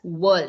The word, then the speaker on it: whirl: So it's pronounced as whirl. WHIRL.